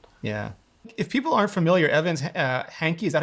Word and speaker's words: Evans Hankey: If people aren't familiar, Evans Hankey, is that how you pronounce her name?